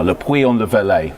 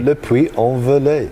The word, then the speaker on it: Le Puy-en-Velay: we are right now, Le Puy-en-le-Velay. I've got it wrong again, Le Puy, what is it? How do you pronounce it? Le Puy-en-le-Velay. There you go. No. Oui. Le Puy-en-Velay.